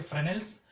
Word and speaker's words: Fresnel's: that's called as a Fresnel's distance. From here to here, this distance. Okay. This is called as a Fresnel's distance. Okay. S is silent here. Okay. So we say Fresnel's distance.